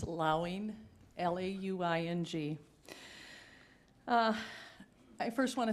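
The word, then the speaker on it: Lauing: from Doris wasn't sure about your last name pronunciation it's okay mayor Alan it's allowing l-a-u-i-n-g uh I first want to thank you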